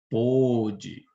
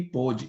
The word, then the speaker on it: pôde: Veja a diferença ao pronunciar as duas palavras. Pode, pôde. Entendeu? Pode e pôde.